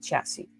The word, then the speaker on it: chassis: spells chassis pronounce it chassis the last s is silent oh that's interesting I